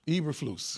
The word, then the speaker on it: Eberflus: Eberflus.